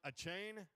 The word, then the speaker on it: Achane: Texas A&M running back Devon Achane. Is that how you pronounce his name? Achane.